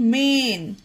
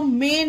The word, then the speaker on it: main: एन मेन देखिए friends M ए आई एन ए के बाद आई हो इसमें आई आया ना ए के बाद तो मेन होगा मान पढ़ना गलत होगा इस मान नहीं मेन पढ़ेंगे इसे क्योंकि ए के बाद